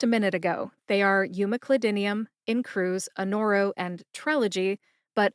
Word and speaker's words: umeclidinium: Umeclidinium has 6 syllables. U like the letter in the alphabet, U. M like money. Cli like clip, as in you clip or cut a recipe out of a magazine, Cli.